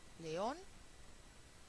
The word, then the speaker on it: León: hace falta ponerle tilde León aquí Tenemos también una palabra aguda pero esta palabra aguda termina en N y al terminar en N es una palabra rara y hay que ponerle la tilde autobús aú palabra aguda